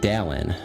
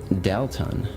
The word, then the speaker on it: Dalton: he just said Dalton when Dalton says his own name he doesn't enunciate the T he says Dallin no tea when he says they say his name always emphasizes the T it's like Dalton so after he told